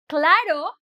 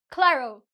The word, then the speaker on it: claro: you speak Spanish is when you say a word that ends with O, you tend to do the O. O. So for example, claro, you would say claro. Adding a W sound or a kind of a U sound that is not needed.